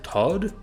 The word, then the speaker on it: Tot: This is Tot, a greater demon known as the Saint of the End, which may have her name pronounced as Todd, but she is a